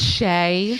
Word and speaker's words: Chez: It's Shay. Shay. Yes, it's French for Shay, even though it is pronounced Shay, but it's You Chez.